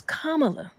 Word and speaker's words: Kamala: they want it pronounced so it's comma and how I want people to remember is is comma comma k k you remember